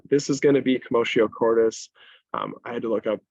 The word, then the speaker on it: commotio cordis: So this is going to be CommotioCordis. I had to look up how to pronounce that because I was 100% sure. So Yeah, it's not commodio. Very Latin.